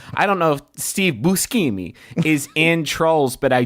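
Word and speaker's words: Buscemi: I don't know if Steve Bushimi I don't know if Steve I sorry I got to do the correct Italian pronunciation. I don't know if Steve Busimi is in Trolls but I do know that Trolls is him.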